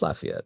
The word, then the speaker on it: Lafayette: It is Lafayette. Yeah. You say like laugh like Lafayette. So, you put a little bit of a laugh, but but no, you nailed it.